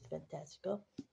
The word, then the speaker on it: Fantastica: Um, in the book, it pronounced as Fantastica, but in the movies, it's pronounced as Fantasia.